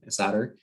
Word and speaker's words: solder: hear is solder so it's spelled with an l but it's pronounced sod solder and so that's when